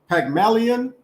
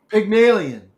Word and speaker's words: Pygmalion: you're gonna help me for not help me pronounce this sure pagmalian pygmalion there you go okay millions an old character